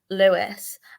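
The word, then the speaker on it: Lewes: They're called, I think it's pronounced Lewis, and they actually play their men and women the exact same.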